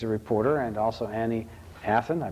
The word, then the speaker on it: Athon: david steves he's a reporter and also annie hathan i pronounced it right this time she's also a